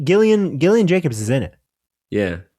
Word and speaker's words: Gillian: Oh, I always say Gillian because of the way it's spelled. I'm a fool. It's Gillian. Yeah. I interchange it in my brain. I constantly do that. I'm like, God, it's obviously Gillian Jacobs. Anyway, who's great.